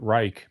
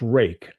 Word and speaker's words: Ruike: I G-Ball pronounces it Reich, but I think it's Ruik. I'm not sure. But it'll be the first knife of theirs that I have, you know. By the way, did anybody see the great deal at Costco? You can get it's pronounced rake. Okay, rake.